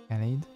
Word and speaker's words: Gallade: Galad. I guess Galad because also it has Gardevoir. I think it's Galad because it has blade arms.